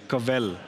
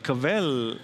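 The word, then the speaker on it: kvell: It says kavel. It's spelled as K-V-E-L-L. And kavel, he was like, it means you take a step back and just feel the joy.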